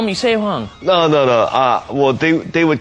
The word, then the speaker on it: 세황: They would pronounce it Say.